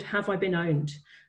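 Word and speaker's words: pwned: called Have I Been Owned? It's owned as in the way that myself as a nerd would spell it, so it's P-W-N-E-D. But the website is Have I Been Owned, spelled P-W-N-E-D.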